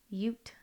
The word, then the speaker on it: Ute: So It was, I think it's Ute Oh. people. I don't know. Ute. It's Ute.